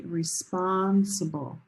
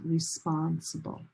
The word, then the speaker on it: responsible: But when this word becomes an adjective, the stress location changes. If you say she's very responsible, olive sock responsible.